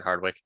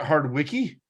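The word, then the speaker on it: Hardwicke: one cares about Catherine Hardwick nothing good yeah isn't it hard Wiki if you're pronouncing every single letter Hardwick um either way I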